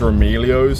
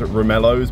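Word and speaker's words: Romaleos: to pronounce this word I think it's roomy Leo's some people say it's room ellos but basically we got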